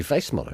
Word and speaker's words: Weissmuller: weissmuller how did you how did you pronounce his name we call him johnny weissmuller why smaller that's because probably it was in germany but johnny vice muller v smaller anyway johnny